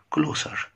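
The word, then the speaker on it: closer: ذل شيد كلوسر كلوسر هنا الاس اتنطق اس ماتنطقش زد ليه يا مستر كلمه كلوز بمعنى يغلق لو جت فيرب يعني الاس تتنطق زد لو جت بمعنى يقفل الباب مثلا لكن كلوس الاس تتضع اس لو جت مثلا صفه قريب فهنا كلوسر اقرب نطقناها اس كلوسر افريد افريد افريد خائف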